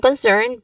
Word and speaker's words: concerned: So as far as I'm concerned, meaning basically is one's own stance. Now pronunciation wise, you emphasize in concerned. Concerned. And in concerned, you emphasize the second syllable concerned.